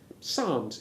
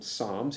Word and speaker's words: Psalms: say PSAL correctly and the initial P has disappeared except of course when written if you look for an article on Psalms in your Bible dictionary